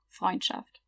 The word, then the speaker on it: Freundschaft: ST is pronounced st, and SCH is pronounced sh. So that means friendship, Freundschaft.